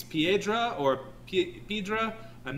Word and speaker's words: Piedra: yeah manuel uh uh it's either piedra or pedro it's p-i-e p-i-e d-r-a